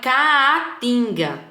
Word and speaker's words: caatinga: Então, o A fica separado, porque até na pronúncia também ela separa, ó. O nosso bioma é caatinga.